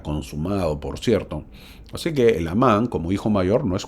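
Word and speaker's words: Helamán: medio americano lo pronuncias helaman no se pronuncia así se debe pronunciar en el español El amán la H muda y termina en a con tilde por lo tanto el nombre es el amán así se debe pronunciar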